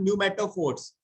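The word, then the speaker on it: pneumatophores: ऐसी एक रूट्स क्या होती हैं, that is called न्यूमेटोफोर्स, that is called sir इसमें न्यूमेटोफोर्स। तो पी है, पी साइलेंट है।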